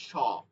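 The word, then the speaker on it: س: খেয়াল করতে হবে এটা মূল উচ্চারণটা হচ্ছে স আমরা যখন বাংলায় বলি শশুর শশুর সশা সশি স এই উচ্চারণটা এখানে নিয়ে আসতে হবে এরপরে ধানের শীষ শীষ উচ্চারণটা কি বলি শীষ শীষ এটার মধ্যে সিনের কিছু থাকবে না।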